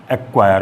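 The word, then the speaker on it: acquire: के और क्यू से पहले हमेशा सी जो है वो साइलेंट हो जाता है। जैसे एक्नॉलेज, एक्वायर में यहाँ देखो सी के बाद के लिखा हुआ है और यहाँ सी के बाद क्यू लिखा हुआ है। अगर के या क्यू से पहले सी होता है तो वो हमेशा साइलेंट मान लिया जाता है, उसे बोलते समय उसको प्रोनाउंस नहीं किया जाता है।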